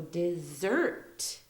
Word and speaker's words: desert: with like a zed the S is pronounced like a zed um there's more emphasis on the the next part of the word so the zert part so desert like that um it's